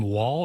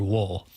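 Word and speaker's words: Woll: is his last name Wall or Wool? You know, I think they were pronouncing it more Wool than Wall. but it's since spelled you Wall. well, it's W-O-L-L.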